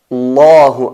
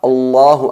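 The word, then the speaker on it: الله: La letra lam es enfatizada, es atenuada, pero aquí la letra lam de la palabra Allah en concreto se pronuncia enfatizada en función de la letra que lleva antes.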